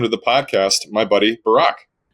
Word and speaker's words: Barak: or missays your name, if you say I'm Barak, that they say, oh, what would they mistake your name for? They would say Brock, B-R-O-C-K, but I think I should go with Obama.